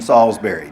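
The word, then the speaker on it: Salisbury: for my Charlotte friends Salsbury there is no I in Salsbury just forget that I for my local peeps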